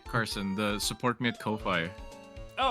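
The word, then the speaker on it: Ko-fi: I'm pretty sure it's Kofi like the Japanese. It's like buy me a coffee. In Japanese, the romanization is Ko Fi and it's pronounced Kofi.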